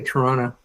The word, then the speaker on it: Toronto: And yes, by the way, to be a true Tononian, you don't pronounce the second T in Toronto. You have to say Toronto.